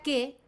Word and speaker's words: che: se dice que la pronunciación y justamente si vos ves escrito en un libro italiano, vas a ver che, se pronuncia qué, y quiere decir nuestro qué.